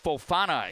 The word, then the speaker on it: Fauana: Seek Fauana is actually the way the uh Knights guard has his last name pronounced.